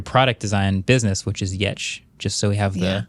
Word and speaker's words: Giertz: But I think it's interesting with your product design business, which is Giertz, just so we have the pronunciation verbally.